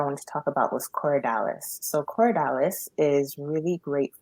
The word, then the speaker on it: Corydalis: Corydalis. Yeah, Corydalis. C So O. Say it C again. C. Cory, so Corey, and then Dallas, Dalis, all one word.